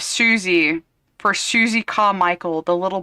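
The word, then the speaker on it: Susie: He said he said earlier in this as well, he said sussy instead of Suzy for Suzie Carichel the little black girl in Rugrats.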